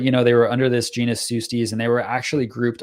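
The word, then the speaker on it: Pseustes: digging into the old literature on these things, Sustes is a better name to go by, and that's spelled P-S-E-U-S-T-E-S.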